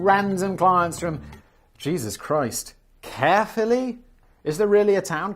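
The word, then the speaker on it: Caerphilly: There was no point accepting random clients from Jesus Christ, Carefully. Is there really a town called Carefully? I mean, it's spelled C A E R P H I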